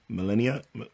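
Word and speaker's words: Malenia: the title of this is Oden Rings Melena melenia let's let her say her name right I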